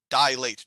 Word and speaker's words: dilate: constricts dilate is big not dilate dilate two two syllables di late so if you go